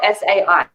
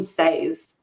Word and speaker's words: sai: is yeah yeah and it's spelt s-a-i and it's called a sai yeah i think it's the two books she calls them stays but they are not stays this isn't a word